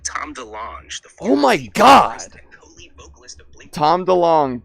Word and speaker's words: DeLonge: So, Tom DeLonge DeLonge. It's like DeLong, but it's spelled DeLonge.